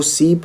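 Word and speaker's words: CYP: रख सकते हो जो सीप होता है इस तरह से सीप इसका प्रोनाउंस क्या है सीप है ना इसका जो प्रोनाउंस यह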